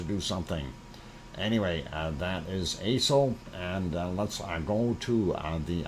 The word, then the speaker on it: Aso: Aso-san, and this is A-S-O is the way it is spelled. Don't mispronounce it. Aso.